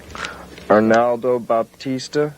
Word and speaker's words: Arnaldo Baptista: okay thank you thank you very much okay arnaldo baptista is that how you pronounce his name that's it where i said